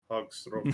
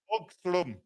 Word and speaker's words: Hagström: Hagstrom. That's unique Scandinavian vowel. Hagstrom. Hagstrom. It's more of a huh. It's not a ha. It's a huh.